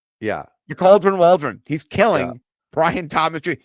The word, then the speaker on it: Waldron: His name rhymes with cauldron. Yeah. Shane Waldron. Yeah. The Cauldron Waldron.